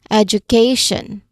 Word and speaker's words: education: Listen to me when I say it. Education. Again, education. Which uh which of the education? Which of the four syllables did I stress? It's the third syllable. And the third syllable is right before t i o n.